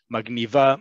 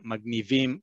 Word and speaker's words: magniv: Mavrik, magniv, magniva, magnivim, magnivot. Or our last one, maxim. Sorry, before we get to that, the slang version of magniv is magniv, right? Where the emphasis is on the first syllable.